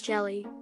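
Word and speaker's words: Gelae: The naming scheme for several species in the genus Jelly, pronounced jelly, was conceived as a whimsical arrangement of letters.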